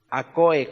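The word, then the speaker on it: ἀκοή: Acoe, con K de kilo.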